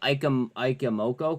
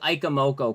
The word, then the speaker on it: Ichimoku: They're called Ikamoko clouds. You're talking about these ones, right, Booch? Like these clouds? And like that cloud? That cloud? Yeah, they're called Ikamoko clouds.